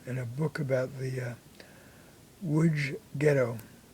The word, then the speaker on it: Łódź: An Orthodox Jewish man from a photo in a book about the Łódź Ghetto. That's L-O-D-Z in Polish, pronounced Łódź.